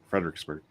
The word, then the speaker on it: Fredericksburg: just clarifying Frei frederickton no FR fredburg yeah Fredericksburg yep pronounce and spell the major river that you